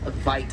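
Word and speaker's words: wit: It actually gets its name from a mispronunciation of the Afrikaans vite, spelled W-I-T.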